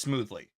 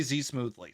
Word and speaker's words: Zmoothly: That's how you say my name, by the way. It's just smoothly. Some people say Z smoothly.